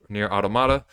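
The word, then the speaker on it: NieR: Automata: B Bayonetta they made near automata near automata that's how properly pronounced that and they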